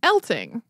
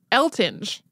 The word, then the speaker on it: Eltinge: that it was pronounced elting like with a hard G but there is a